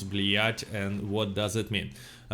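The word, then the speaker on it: блять: how do you pronounce blyat and what does it mean we pronounce it a little bit you know harder like blech and it means a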